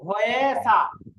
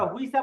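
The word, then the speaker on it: 회사: এটাকে কিন্তু আপনারা হুইসা পড়বেন না, হুইসা পড়লে জি কিন্তু স্যার ভুল উচ্চারণ হবে, এটা হুইসা পড়বেন না, কারণ ওই যে উর সাথে ই মিললে অনেকে এটাকে উই উচ্চারণ করে, ভুল উচ্চারণ।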